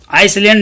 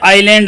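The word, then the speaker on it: island: Oasis is like a green आइलैंड, आइसलैंड नहीं बेटा, आइलैंड है, आइसलैंड होता है ICELAND, आइसलैंड, ये आइलैंड है, ऐसे इसके अंदर साइलेंट है।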